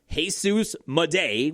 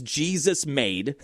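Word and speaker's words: Jesús Made: Jesus Mday, which is how you say his name. At first we thought it was Jesus made cuz his last is literally Jesus.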